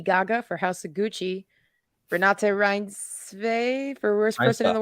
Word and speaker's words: Renate Reinsve: I'll pronounce it for you. Okay. Renate Reinsve.